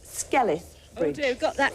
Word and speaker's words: Skelwith Bridge: there just west of Ambleside, and it's actually pronounced Skelwith Bridge.